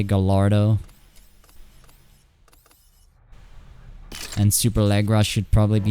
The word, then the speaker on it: Gallardo: Gallardo should be Gallardo, something like that. Because it's Italian, right? We say Gallardo.